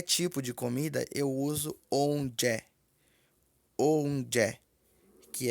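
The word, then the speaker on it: oúnjẹ: Comida pronuncia-se onje.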